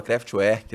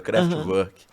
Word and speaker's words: Kraftwerk: Na época eu falava Kraftwerk, né? Que é como estava escrito. Depois eu fui entender como é que se pronunciava, Kraftwerk.